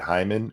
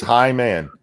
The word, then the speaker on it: Hyman: yelled at me because I say it Hyman, and she's like, that's not how you shouldn't say it like that. Like that's how it's spelled. That's your inability to pronunciate words. It is Hyman. Yeah. Hyman. Like Highwayman, but shorter.